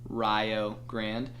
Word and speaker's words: Rio Grande: There's a school in southeastern Ohio called Rio Grande, pronounced Rio Grande.